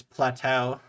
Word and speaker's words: plateau: that but uh yeah in English it's Plateau Plateau almost like Plato Plateau anyway um uh